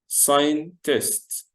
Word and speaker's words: scientist: اوكي يلا نقول مع بعض scientist. اوكي ثانك يو scientist. ناخد بالنا ان كلمة scientist الاس مع السي بيتنطقوا حرف واحد وبعدين الاي لوحدها تبقى ساي، وبعدين ساين، وبعدين تيست.